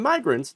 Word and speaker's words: migrants: obviously got crossed up between immigrants, short I, and migrants, long I. Started mispronouncing migrants with short I, instantly corrected himself with no embarrassment because it was patently a mispronunciation.